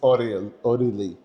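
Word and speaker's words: Aurélie: Ori. It's good. No, no, it's not good. Don't be nice. Okay, so it's Ori.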